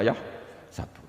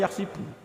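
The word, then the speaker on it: يحسب: Karena dalam qiraat sab'ah ada yang baca yahsibu, qiraat kita baca yahsabu. Tapi guru-guru kita kalau ngajar fikih itu bacanya yahsibu. Tapi kalau baca Quran yahsabu. Ya kan Quran kita kan ayahsabu Allah yaqdiru alaihi ahad, bukan dibaca ayahsibu.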